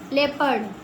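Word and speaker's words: leopard: ओ तो भूल जाओ पढ़ लेपर्ड जे ई ओ पी ए आर डी वाई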